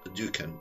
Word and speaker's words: Dukan: هو الرجيم للمعلومة اللي لقيتها عنه إن بينسب لدكتور اسمه دوكان أو الدوكان، هو بيتكتب دال واو كاف ألف نون، أو بالإنجليزي DUKAN، فانطقها بقى أنت بالشكل اللي يكون مناسب ليك. دكتور ديوكان ده بيقول إيه؟